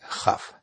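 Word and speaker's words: כ: Si una palabra termina en una vocal y la próxima palabra empieza con la Bet, Pe, Kaf, debe pronunciarlas como Wet, Fe, Jaf.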